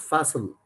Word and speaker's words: facile: Facile means, it's pronounced facile, means friendly or flexible.